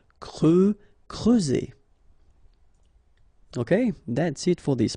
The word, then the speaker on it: creuser: Creuser. Okay, so C and R together, cre, and then E and U, creuser.